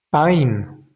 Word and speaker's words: pain: Y la palabra pain, esa a i n, es una ducal nasal y se dice pa.